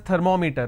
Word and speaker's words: thermometer: We all pronounce this as thermometer.